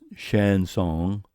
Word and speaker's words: chanson: flower defecence making Knicks chanson pronounced Shan song French kind of song remark men worthwhile is